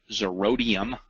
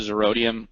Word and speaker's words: Zerodium: As I was kind of reading some articles this morning, I stumbled upon this website, Zerodium, I believe is how it's pronounced.